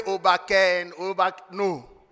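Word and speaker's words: Akwaaba: So the greeting to welcome you in Ghana is Obake. Those of you have been saying Obake and Obake.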